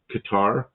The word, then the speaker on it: Qatar: He goes, "There's no accents. There's no accent one way or the other. They just They just call it Qatar Cutter." He goes, "It's like just imagine no accent on any syllable.